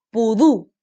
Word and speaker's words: pudú: Aquí está el ejemplo, pudú. Se carga la voz, última sílaba, y se tilda porque termina en vocal.